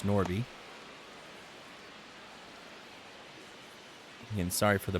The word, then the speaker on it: Norby: Noby? It's Norby.